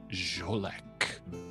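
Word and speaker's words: Xolec: That vampire's name is Jolek, who has been missing for some time. Interesting name it is. X-O-L-E-C is the way it is spelled.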